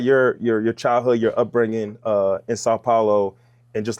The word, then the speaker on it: São Paulo: Sao Paulo, how you say it? São Paulo. São Paulo.